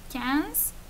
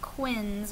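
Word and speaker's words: quinze: s um this one cans should sound like some cans of Coke okay so not Quinns or anything like that but cans this one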